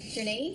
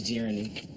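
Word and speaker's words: Jheranie: Is it Journey? Nope. It's Jeremy. He's the only person with that name.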